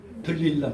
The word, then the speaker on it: 들릴라: 들릴랄로 말미암아, 아니 여기 이 영화 같은 데서 보면 데릴라라고도 그러고 드릴라라고도 그러고 막 그렇게 되죠. 근데 우리 성경에는 들릴라, 그냥 드릴라라 하면은 발음이 좋은데 들릴라가 되어버린다. 들릴라.